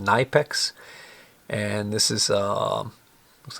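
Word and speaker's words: Knipex: is a german company it's spelled k-n-i-p-e-x but i believe it's pronounced nipex and this is uh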